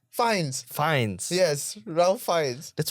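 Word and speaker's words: Fiennes: understand the Ralph because people do tend to mispronounce that as Rafe. Ah, but wait, what kind of name is that? It's F I N E S. No, it's not. It's f i e n e s. Fines.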